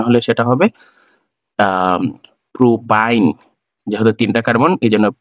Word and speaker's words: প্রোপাইন: তাহলে এটার নামকরণ যদি আমি করতে চাই, এই অ্যালকাইনের আইন উচ্চারণ হলে সেটা হবে প্রোপাইন।